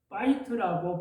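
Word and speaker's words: בית: 하지만 여기에서 집으로 번역될 히브리어 원문 보면은 파이트라고 발음을 하는데요.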